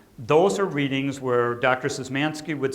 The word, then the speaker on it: Szymanski: Jeff Szymanski, who has worked in the world of perfectionism as it relates to obsessive-compulsive disorder.